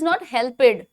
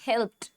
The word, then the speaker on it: helped: चाहते हो, because that the actual word is not helped, that's what, that is helped, helped। इसीलिए pronunciation बहुत important role play करती है, ठीक है। Now it is pronounced like helped, helped।